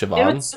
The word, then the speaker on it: Siobhan: spell her name japon SI OB haan is pronounced Siobhan's it's it's like some